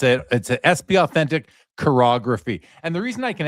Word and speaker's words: chirography: Oh, chirography. Okay, cool. Yeah, it's a SP Authentic chirography.